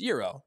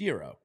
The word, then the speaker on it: gyro: or G so the the food that you're referencing is Euro because it's it's Greek it's Euro the pitch in baseball